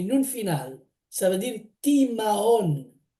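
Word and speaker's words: תמהון: Alors, j'ai fait la recherche et le mot égarement en hébreu, ça s'écrit Tav, Mem, Hei, Vav et Nun final. Ça veut dire Timahon. Timahon, qui veut dire égarement, il veut dire aussi perplexité, étonnement.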